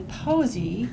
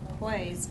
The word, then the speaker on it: Poise: online the the uh I would pronounce it probably posie but it's made by impressa no it's Poise Poise impressa flatter supports so